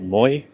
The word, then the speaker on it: Moi: It's called, they're pronouncing it Moi. I would have said Moi. I don't know.